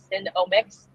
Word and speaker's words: Senomyx: Cinnamix is the flavor ingredient, and it's spelled SENOMYX, Cinnamix.